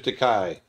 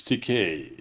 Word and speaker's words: Takei: to meet you mr takai and he goes actually it's decay rhymes with okay i said oh sorry